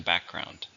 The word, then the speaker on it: background: How many syllables are in background? 2. Stress is on the first. Background.